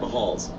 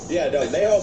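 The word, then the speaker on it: Mahall's: I keep saying it wrong. Mahal's, Mayhall's? Mayhall's? It's a Blackbird Lounge. Wait, are those the same place? It is Mayhall's.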